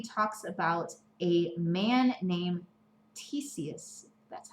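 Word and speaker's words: Ctesias: In chapter 2, he talks about a man named Theseus. That's how you pronounce it.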